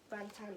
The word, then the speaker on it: Bangtan: Bangtan is how you say the name.